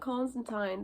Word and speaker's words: Constantine: Collins into you not Constantine but in the comics it's pronounced Constantine and they make a